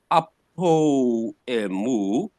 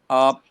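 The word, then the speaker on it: ἀπ᾽ ἐμοῦ: But the pronunciation now is not apo emu. It follows here as one word. So you are now going to pronounce it as one word as apemu. Apemu. Just as one.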